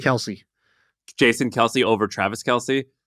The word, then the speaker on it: Kelce: Kelce. Kelce.